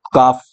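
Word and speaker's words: calf: क्या बोलते हैं काफ ये एल यहां पे साइलेंट रहता है और इसको यूं लिख दो काफ ठीक है क्या क्या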